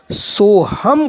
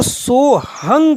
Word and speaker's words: सोहम: से बाहर चली गई अगर जो एक ही श्वास मानते हैं वह इसका उच्चारण सो हम करेंगे अन्य संत जो प्राचीन परंपरावादी है वह इसको सोहंग कहेंगे उनका मानना है कि